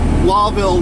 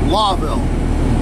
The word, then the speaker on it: Lowville: Okay, guys, we're coming up into Lawville, New York. Everybody gets it pronounced wrong. It's actually like Lowell when you pronounce it. It's a owl instead of an O, but it's spelled L-O-W.